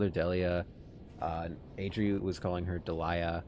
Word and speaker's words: Delia: So now it's the Japanese version of their names is are pronounced Deria and Lux. So that means that in English their names would be pronounced Delia and Lux.